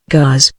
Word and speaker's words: Gars: The word Gars, pronounced Gaz, a relic of the Celtic language.